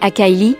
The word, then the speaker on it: Akili: Akili, prononcé Akaili, est le deuxième bébé d'Alena, mais le premier enfant avec un deuxième homme, nommé Tom, d'origine blanche.